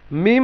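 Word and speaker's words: م: মিম হচ্ছে দুই ঠোঁটের শুকনো অংশ মিম, আর বা হচ্ছে দুই ঠোঁটের ভেতরের অংশ।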